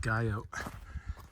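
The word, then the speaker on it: Guyot: goo gu yo T I think it's pronounced gu out and uh yeah pretty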